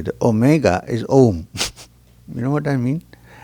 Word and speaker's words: Om: So, now, the general description of Om is that it's a three-syllable word with A, U, and M. Om. A, U, and M, which is Om.